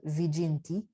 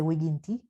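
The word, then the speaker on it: viginti: the number 20 so 20 is wigienti you probably notice i'm using classical latin pronunciation not ecclesiastical you might also hear this word as vijinti but i'm going to say wiginti so 18 is dual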